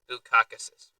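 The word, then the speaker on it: Bukauskas: Bukakus. Yes, that's how you pronounce the dude's last name.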